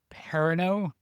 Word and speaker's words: Perrineau: Harold Perrineau, I believe is how it's pronounced. Yes, he's got one of those like EAU last names.